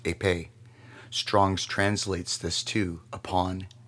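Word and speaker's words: ἐπί: The original Greek word used for in their right hands or in their foreheads, is pronounced epē.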